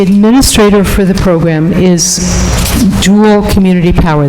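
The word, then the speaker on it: Joule: for the program is dual community power that's spelled j-o-u-l-e like the energy unit there are two pieces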